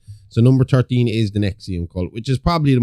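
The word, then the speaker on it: NXIVM: So number 13 is the Nexium cult which is probably the most modern of this group. Yeah. It's pretty recent. Yeah. So, pronounced Nexium because it's spelled N X I VM.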